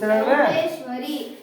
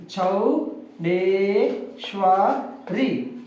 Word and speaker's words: ಚೌಡೇಶ್ವರಿ: ಶ್ವ ರಿ ರಿ ಕೂರ್ಸಿ ಚೌಡೇಶ್ವರಿ S right ಚೌ ಡೇ ಶ್ವ ರಿ ಚೌಡೇಶ್ವರಿ ನೋಡಿ ದೀರ್ಘ ಇದೆ ದೀರ್ಘ ಉಚ್ಚಾರ ಮಾಡೋಣ ಚೌಡೇಶ್ವರಿ ಚೌಡೇಶ್ವರಿ ರೈಟ್ ದ